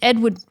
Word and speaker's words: Edvard: before we jump into this crime yeah Edward it's spelled Ed it's Edward MCH but it's like spell scandy so e